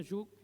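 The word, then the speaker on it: שוב: En la Biblia, de hecho, la palabra arrepentimiento, ahora del hebreo, con la raíz hebrea, no la latina, significa shub, se pronuncia shub, y significa volver al camino correcto.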